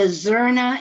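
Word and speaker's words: zurna: You showed the Zorna and the dole. Is that how you pronounce it?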